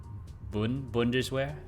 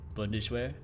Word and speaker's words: Bundeswehr: I think the U in German is very hard for native English speakers. You pronounce it like two O's in English, like boo, Bundeswehr.